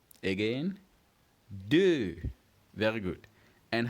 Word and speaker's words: deux: First, we pronounce 2 as deux. Again, deux.